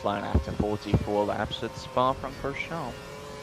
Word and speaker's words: Spa-Francorchamps: Earlier than he would have crossed the finish line after 44 laps at Spa-Francorchamps. I don't think you say the ps.